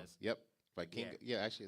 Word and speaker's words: Vikingo: Vikingo. Yeah, actually, it's right I here. might be saying his name wrong.